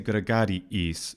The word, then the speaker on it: gregariis: Something that's really good and pretty consistent about what the actors do in the case of, say, gregariis, is they don't say gregariis.